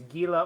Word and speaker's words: Gila: It'd be an H sound.